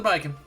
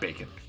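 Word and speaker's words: Baiken: oh no it's another biking am i saying it right biking bacon it's not bacon which is better which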